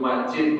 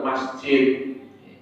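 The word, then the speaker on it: مجيد: Innaka Hamidum Majid, bukan masjid.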